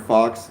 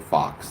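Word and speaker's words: Faulks: Um even though his name is spelled F A U L Ks, you you pronounce it Fox, like Fox and Hen House.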